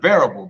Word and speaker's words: Very Able: It's pronounced variable, but it's spelled Very Able.